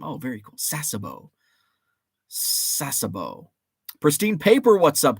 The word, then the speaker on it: Sasebo: to do it soon your second pronunciation was right sasebo like your name oh very cool sasebo sasebo pristine paper what's